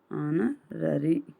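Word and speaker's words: honorary: Consonant letter ಬರುತ್ತೆ ಬಟ್ ಅದನ್ನ ನಾವು ಉಚ್ಚಾರಣೆ ಮಾಡಿದಾಗ ಏನಾಗುತ್ತೆ ಅದು ಹನರರಿ ಹೌದ ಆನರರಿ ಆಗುತ್ತೆ ಇಲ್ಲಿ ಇಲ್ಲಿ ಏನು ಬರುತ್ತೆ? ಎಚ್ ಸೈಲೆಂಟ್ ಆಗಿ ವೊವೆಲ್ಸ್ ಬರುತ್ತೆ.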